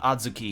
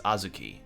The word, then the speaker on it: azuki: Okay, no, so it's not Adzuki here, it's Azuki. So, it's pronounced IRL.